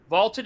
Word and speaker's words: VLTED: Vaulted is spelled VLTED, and it is the